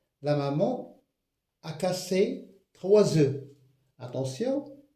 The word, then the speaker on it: œufs: Pour préparer une tarte, la maman a cassé tr œufs. Attention. Le F ne se prononce pas, c'est une lettre morte.